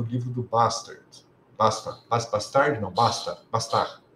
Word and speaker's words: Bastard: Não, Bastard. É francês. Tá? E esse nome aqui é bom pronunciar corretamente. É Bastard. Tá?